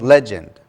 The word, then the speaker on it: legend: I said Yeah, legend? again, I think legend or something. I think it's the second syllable is rather soft, so it's legend.